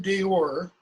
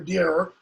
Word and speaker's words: Deor: Now, one of you in your article summary, you made the comment that the poet in Deor, or Deor, as it should be pronounced, is, talking about something along the lines of physical suffering, because that was common in the Anglo-Saxon period.